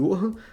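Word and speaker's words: Johannes: o ioiô hum Gutemberg se escreve jorranes mas se fala em honra como se fala é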